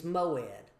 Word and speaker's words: moed: There is an appointed time and and the word appointed time is moed. Uh the way we would spell it in English would be m o e d.